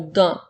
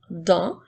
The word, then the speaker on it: dans: le mot d'un s'écrit Dan qui font le son 1 et la lettre S est une lettre muette alors nous avons dans comme dans les phrases